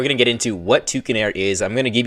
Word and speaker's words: Tewkenaire: So that's pronounced Tewkenaire, like Tewkenaire, not Twerkenaire.